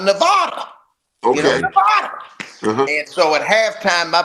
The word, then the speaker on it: Nevada: and I'm in the studio and I've always pronounced Nevada Nevada okay Nevada and so at halftime my producer says you